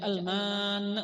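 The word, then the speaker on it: المن: Manna itu kan mimnya tidak bertasydid. Dan setelah itu mimnya itu tidak beralif. Enggak kita baca al-manna, bukan. Itu hanya bacanya al-manna. Tidak bertasydid dan mimnya itu tidak beralif. Bitakhfifil mim, dengan meringankan mim, wal qasri, dan memendekkan akan itu mim, artinya mimnya itu tidak panjang. Wa qulna, dan kami katakan,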